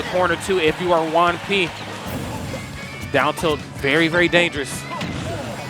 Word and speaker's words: Juanpi: Is it Juanpi, like Juan and P?